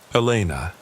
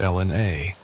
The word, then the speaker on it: Elena: The accent, the slight rasp, the way she pronounced my name with the Spanish inflection. Elena, not Ellen A.